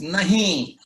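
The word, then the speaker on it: नहीं: and that word is but if you really say it like no then it is nahi with the edge and where should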